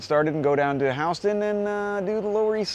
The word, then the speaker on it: Houston Street: I've mentioned this in plenty of tours before, but the grid of Manhattan begins at Houston Street, which is pronounced Houston. Remember that, not Houston.